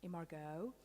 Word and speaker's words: imago: this is imago and that is a word that i've heard various pronunciations of over the last few weeks and enjoyed every single one um imigo emejo um imago so imago is my understanding of it and it's a